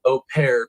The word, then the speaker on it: au pair: Mother of Brazilian au pair charged in Fairfax County killing says she wants answers.